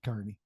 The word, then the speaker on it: Kearney: keep in touch Carney but it's spelled ke a r NE y like the other KY Carney uh thank you for